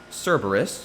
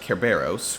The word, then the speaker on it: Cerberus: film's pegasus can add cerberus you got a three-headed hellhound maybe it can be a species more properly pronounced kerberos with one really big